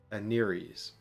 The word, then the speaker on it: Aneres: Her faith in the lawful god Aneres. And that's how I choose to pronounce it.